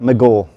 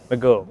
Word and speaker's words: Magor: Nice How did I do on the pronunciation? My Welsh is a little rusty. It's getting there, actually, like Magor. Magor.